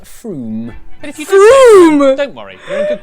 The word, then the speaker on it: Frome: sa iyong tren wro ng it's not from frome it should be blitheringly obvious it's pronounced froome don't worry you're in good company froome is